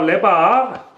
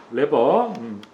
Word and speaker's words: 레버: 스로틀 레바. 레바. 일본식 발음이에요. 어쨌든 레버.